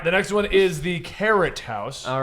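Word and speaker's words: Keret: All right, the next one is the Carrot House. All right. Well, Spelled, Carrot House giant is- carrot. spelled K-E-R-E-T. It's before- spelt like Kakarot.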